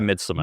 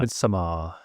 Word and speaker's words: Midsommar: yeah, like, I'm like, do you say it the way it's spelled? Do I put a little Scandinavian twang on it, or do I just say Midsummer?